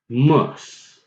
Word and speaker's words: Muslim: okay so now just bear with me say the word was okay was now replace the WTM and keep everything constant and you get mas was muss was muss was muss again it's